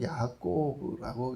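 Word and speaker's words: יַעֲקֹב: 그래서 이름이 야꼬브, 히브리어로 야꼬브라고 이렇게 발음을 하는데 발 뒤꿈치를 잡은 자 혹은 탈취하는 자 이런 의미를 갖고 있는 이름이 되었습니다.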